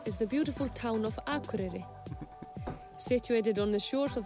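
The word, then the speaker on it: Akureyri: flight from Reykjavik is the beautiful town of akure situated on the shores of the North Coast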